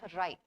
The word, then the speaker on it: wry: Now, how do you pronounce this? It's called wry.